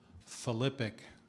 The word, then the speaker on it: philippic: Philippic.